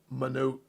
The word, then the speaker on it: Mononoke: It's Mononoke. Princess Mononoke. Thank you for the pronunciation guide, Airsoft.